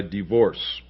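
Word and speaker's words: DeVorss: And this is published by Divorce Publications. That's spelled D-E-V as in Victor, O-R-S-S.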